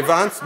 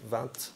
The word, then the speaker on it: vingt: enlever le T, mais 20, non, vous n'arrivez pas à résister. Bizarre, ok, et ça vient d'où? Pourquoi vous dites 20? Parce que vous dites la lettre, mais uniquement avec ce mot-ci.